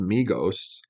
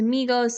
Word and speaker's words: Migos: and then adios to Migos because adios rhymes with Migos and and it's Spanish yeah like Amigos and then adios so